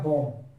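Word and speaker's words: bomb: बी अगर silent कर दिया जाए तो क्या पढ़ा जाएगा बॉम्ब।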